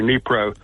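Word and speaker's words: Dnieper: of the Nei River the D is not pronounced it's Nei or nepro river okay the only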